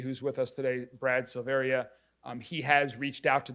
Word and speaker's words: Silveria: state Alcoholic Beverage Control my name is Brad silveria it's s-i-l-v-e-r-i-a I'm the ABC administrator for Jefferson